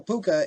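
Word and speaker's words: púca: So, ooh, we can hear how it's said. I'm going to put my headphones on for that. Because I could be saying it wrong. Puka. No, I was saying it right.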